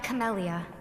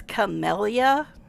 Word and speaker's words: Camellia: Oh, and for all the people that don't actually pay attention to anything the characters say, her name is Camellia, not Camellia. It's Camellia, not Camellia. 2 L's, not 1.